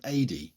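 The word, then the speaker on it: Adye: turn under the command of liutenant Colonel Steven ad apparently that's the pronunciation although it's spelled a d ye who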